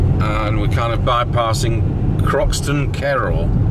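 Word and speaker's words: Croxton Kerrial: And we're kind of bypassing Croxton Kerrell. Pronounced Kerrill.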